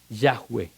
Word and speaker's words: Yahvé: falso que es Jehová le pusieron las vocales de Adonai por qué porque las matres lecciones decían que no se podía pronunciar ese verbo copulativo que es yahwe yahwe que significa ser o